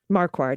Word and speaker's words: Marquardt: republican county commissioners vicky i think mark marquardt marquardt yeah you got it yeah vicki marquardt and